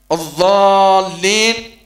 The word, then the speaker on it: الضالين: والحركة كبسط الأصبع وقبضه، الضالين مع تشديد اللام، كثير من إخواننا يغفلون عن تشديد اللام، الضالين ضالين الضالين لازم تشد اللام باش نبتدي ننطق نطقا سليما، آمين آمين الهمزة هنا